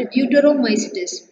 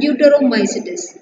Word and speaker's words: Deuteromycetes: It's zygomycetes, ascomycetes, basidiomycetes and deuteromycetes. How to pronounce that?